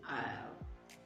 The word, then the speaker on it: isle: I'll, and I'll. Now, while I'll is the contraction of I will. I will like to spend some time with you. I'll like to spend some time with you. And then you have Isle, which means a small island.